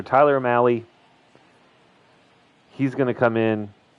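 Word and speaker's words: Mahle: now facing off against Tyler Mal mail I can never remember how to pronounce it Tyler Mali Tyler Mali is that right Mali why is that a hard E I don't know but we'll trust the announcer Tyler Mali he's going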